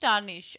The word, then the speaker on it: tarnish: Pronunciation is टार्निश, आर is silent, टार्निश।